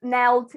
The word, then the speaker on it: knelt: So to knee means to stay on your knees, and knelt is the past. It's simply the past. And the K is silent.